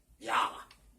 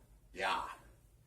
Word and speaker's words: Ja: Ja is actually how it's pronounced, right? Ja.